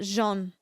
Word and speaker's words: jaune: It's pronounced jaune.